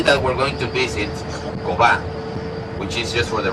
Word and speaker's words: Coba: Coba is written in one of the stones inside the archaeological site, and in ancient Maya would be pronounced Cobha.